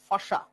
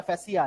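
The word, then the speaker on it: fascia: फेसिया फैसिया एक ही व्यापार जब मेडिकल पढ़ोगे तो हर एक डॉक्टर फासा प्रोनाउंस करता है।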